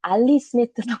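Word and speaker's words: Ali Smith: 데버라 리비라든지 엘리스미스라든지 여기 영국 발음으로는 알리스미트라고 하던데 알리스미트의 강연도 제가 신청해 놨고 그래서 여기에 있는 동안 볼 수 있는 작가들을 많이 보고 가야겠다 이런 생각을 하고 있습니다.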